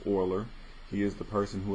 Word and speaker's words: Euler: have this euler so it looks like a euler e-u-l-e-r but it's pronounced oiler he is the person